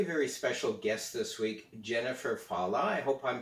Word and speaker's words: Jennifer Fallaw: have our very very special guest this week jennifer fala i hope i'm pronouncing your name right am i Jennifer yes